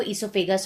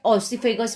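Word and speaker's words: esophagus: ये लॉन्ग जो देख रहे हो वो ईसोफेगस होता है, ऑसिफेगस भी कहते हैं, बट ईसोफेगस इज the correct pronunciation right now जो चल रहा है।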